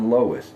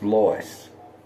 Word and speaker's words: Lois: That's not Lois, it's Lois.